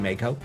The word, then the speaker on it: Mako: So, for me, it's Mo, not not Marco. It's always been Mako.